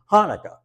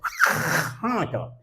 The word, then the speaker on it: Hanukkah: pronunciation of the word Hanukkah. Do you all know what a hawker is? Okay, a hawker is and then you spit it out. So, I would teach these kids how to say Hanukkah.